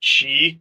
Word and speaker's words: Qi: and it had the it's pronounced like chi, but it's like everybody sees Qi, but it's launched.